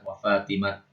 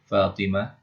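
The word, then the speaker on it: فاطمة: contoh ini Insyaallah ya Adapun menurut logat thyi ya suatu kabilah thyib mereka membacanya dengan ta ya ketika diwakaf ya makanya Eh kalau mereka bacanya thhat Ya ketika diwaakaf mereka bacanya thhat wafatimat wafatat gitu ya tapi yang lebih fasih adalah yang sesuai dengan ee ejaan mushaf Quran ya mushaf Utsmani yang ketika diwaaf maka dia dibaca th Fatimah dan Fatah gitu ya wahuam kita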